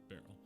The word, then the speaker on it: Beryl: I had to look up how to pronounce Beryl. Apparently it's Beryl.